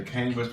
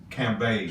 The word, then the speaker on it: Cambage: People will say Cambridge, but it's not how you Cambridge, pronounce it. it's Cambridge, right? No, it's Cambage. Cambage. Oh, okay. Cambage. If you think of the color beige, Liz the Cambage. B-A-G-E in her last name is beige.